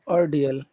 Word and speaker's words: ordeal: Where's the accent on which syllable has the accent on ordeal? Is it the first It's a syllable or the second? second It's the second. second syllable. Okay. Second syllable.